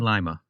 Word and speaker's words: Lima: So it's Lima, Ohio, but lima beans. Yes. All spelled the same way.